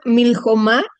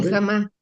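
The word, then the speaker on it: מלחמה: Aquí no lleva acento. El acento está en ma, pero es una sílaba abierta.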